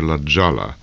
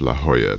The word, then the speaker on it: La Jolla: It's usually pronounced over here La Jolla, but by the locals it's pronounced La Jolla because it's the Spanish, and of course it's the same J that you find in Jesus.